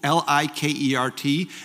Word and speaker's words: Likert: and I challenge any of you to Google Li ke R T and you will see when it comes up in wikipedia says the most mispronounced name in science and they interviewed his